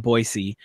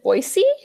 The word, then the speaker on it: Boise: I know out here, for instance, we've got you've got Nampa and Boise, which are the two big city metropolitan areas in Idaho, and then you've got everywhere else, which is still very, very Republican.